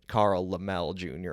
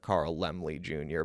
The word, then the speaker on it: Laemmle: I've said his name wrongly in the past. I've said it Carl Laemmle Jr. instead of Carl Laemmle Jr.